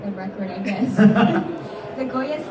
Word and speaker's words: Goya: it true, you're the youngest recipient, if I pronounced this correctly, is it Goya? Yes, Goya.